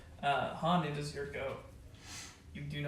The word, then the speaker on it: Han: I'm gonna write Han. That's how it's pronounced.